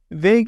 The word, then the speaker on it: Vague: Vague is spelled V-A-G-U-E, just like it sounds if you're listening in the audio only.